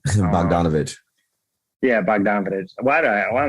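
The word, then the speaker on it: Bogdanović: that much money um baghdad i might i just said the whole name wrong bogdanovic yeah why do i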